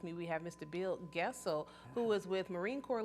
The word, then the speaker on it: Goessl: Bill Goessl, who is with Marine Corps League, St.